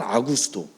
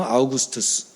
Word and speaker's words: 아우구스투스: 카이사르 다음에 왕이 된 사람이 이제 성경에 등장한 아구스도. 정확한 이름은 아우구스투스.